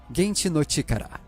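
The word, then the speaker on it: 原始の力: Primeval Power em japonês, pronunciado Genchi no Chikara, uma palavra que é homófona, ou seja, pronunciada da mesma forma que os japoneses falam poder atômico.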